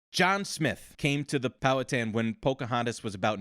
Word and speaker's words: Powhatan: So first of all, it's the way they're pronounced by the white people in Virginia is Powhatan, not Powhatan.